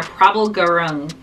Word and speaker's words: Prabal Gurung: Prabal Gurung. Okay, I had to educate myself. This is from designer Prabal Gurung.